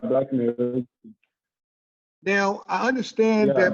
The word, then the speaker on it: Mekri: Did I pronounce that correct? Yeah, Black Mekri.